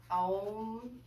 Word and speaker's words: Om: Another noise that you can make is the Om sound, pronounced Well, sorry, it's Om.